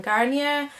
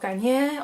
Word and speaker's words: Garnier: But basically this is a movie from 2007 directed by Katja von Garnier, and or Garnier, or however that it's pronounced, like the shampoo, So basically there's this